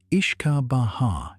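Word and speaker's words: uisce beatha: The word whiskey is simply an anglicization of Wuishi Batha which is pronounced roughly as I ishka Baha in Irish.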